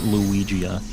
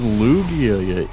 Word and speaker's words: Lugia: you for it and they're like luigia it's Lugia idiot and I was like no it's not and he shows me the car he's like Lugia I was like oh